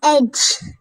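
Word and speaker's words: edge: अपनी को सपोर्ट करें एज एज मींस किनारा एज दि साइलेंट है रेन मींस बारिश रेन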